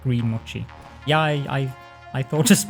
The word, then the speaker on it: mochi: watch the uh mochi it's mochi the correct pronunciation i get i'm not